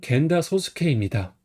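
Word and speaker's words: 源田壮亮: 칠목은 마키, 근원원은 하라, 클때는 타이, 이룰성은 세이라고 읽어요. 21번은 겐다 소스케입니다.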